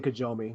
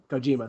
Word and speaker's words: Kojima: Anyway, there was an article posted today that, how do you pronounce his name? I say Kojomi, but... Kojima? Kojima, sorry.